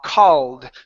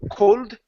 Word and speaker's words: called: last word is ha ha called just like talk walk ball it's an AA instead of cold ha called carbon good